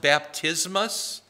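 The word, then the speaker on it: βαπτισμός: It's pronounced baptismos in Greek.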